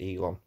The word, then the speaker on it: Elon: order stooge puppet elon musk so i say ellen musk elon musk and it's pronounced elon well yeah i just thought i would clarify